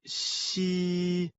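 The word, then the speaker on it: 嘻: The pronunciation of xi, like the English word she, but with the tongue touching slightly the bottom teeth.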